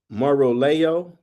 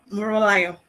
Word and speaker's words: Morio: How do you say it? So, make sure I get it right next time. All right. Um, it's called Morio. Boy, you did well.